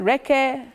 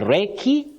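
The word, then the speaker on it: recce: But many people innocently say reke, but reke, we don't have that pronunciation for that word. In fact, it's the short form of reconnaissance. Reconnaissance. So you do a reki, and you don't do a reke, you don't do a rese. So the correct pronunciation of that word, or that short form, is reki.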